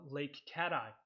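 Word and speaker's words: Lake Cathie: One Sabbath, on Sabbath, we were having fellowship in a place, excuse me, in a place called Lake Cat-Eye, but it's spelled Kathy with a C, but Cat-Eye.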